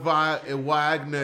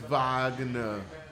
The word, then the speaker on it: Wagner: It's not Wagner, it's Wagner. Like a vagina.